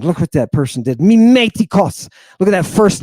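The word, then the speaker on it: μιμητικός: You hear that time I hit the accent? Mimetikos. Not mimetikos, not mimetikos, and not mimetikos. It's mimetikos. And the Greek wants to accent itself on one of the last three syllables.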